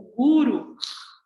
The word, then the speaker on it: guru: No Oriente, o guru, né, que tem essa tônica dessa palavra, então, a tônica na primeira sílaba, né, guru, ele vem como uma